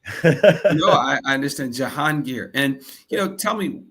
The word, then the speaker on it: Jahangir: So, the correct pronunciation is called Janir.